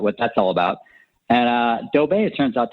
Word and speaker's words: Doe Bay: When I say Doe Bay, you think about how Homer Simpson says Doe. Yeah. Well, it's spelled just like that, D, but except DOE.